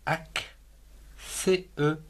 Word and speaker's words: accent: A-C, ac, C-E-N-T, accent.